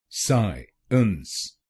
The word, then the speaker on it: Science: तो आप इन दोनों शब्दांशों को अलग बोलिए, साइंस, साइंस, साइंस, साइंस, साइंस, साइंस। और इस शब्द में आपको पहले शब्दांश पर यानी SCI पर जोर डालना है, साइंस, साइंस।